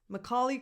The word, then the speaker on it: Macaulay: Macaulay Culkin. Macaw. So the stress is on caw. So the first vowel is just a schwa.